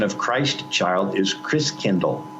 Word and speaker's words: Christkindl: And the German pronunciation of Christ child is Christkindl. Like kindergarten, kindercare, kind means child, Christ means Christ.